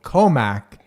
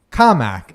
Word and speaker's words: Commack: come from a town that is notoriously called Commack but is actually and accurately called comic and when you say it the right way